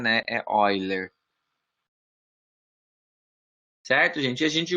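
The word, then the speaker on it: Euler: né a escrita é eu né mas a pronúncia né other Tá certo gente a gente usa Então essa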